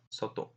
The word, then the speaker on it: soto: Okay, next word is soto.